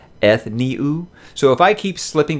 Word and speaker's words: Ethniu: look when i read this character i say ethno but i know even jim dropped in the comments of my last video and said it's pronounced ethniu so if i keep slipping back to saying